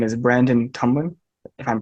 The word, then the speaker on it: Tumblin: very special guest uh his name is Brandon Tomlin if I'm pronouncing that correctly yep that's right so he